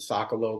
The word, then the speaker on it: Sokolow: I pronounce it Sokolow, but I had teachers that told me I was pronouncing my last name wrong. That it was like Sokolov or Sokolov, and I'm like, all right, well, I don't know.